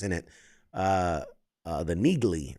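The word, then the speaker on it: Neagley: Uh uh the Nigley, right? Niggly, that's how you say her name.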